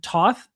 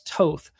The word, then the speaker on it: Toth: And by the way, last week we were calling him Toth. Herb Mayoko called him Toth. And so I went to Pro Football Reference and looked up the pronunciation, and it's listed as Toth.